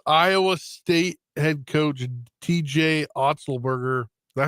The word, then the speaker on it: Otzelberger: for us yes Iowa state had coach TJ otzelberger that how you say it yeah I said